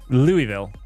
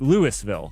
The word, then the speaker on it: Louisville: The city I'm from, Louisville, everybody pronounces differently. Like people from Europe will call it like Louisville, which I think is what it should have been pronounced. Most people in the Louisville or Louisville, either one of those I think